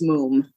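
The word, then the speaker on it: Mumm: and Moom Champagne, or Mum. It's pronounced Moom? It's actually pronounced Moom.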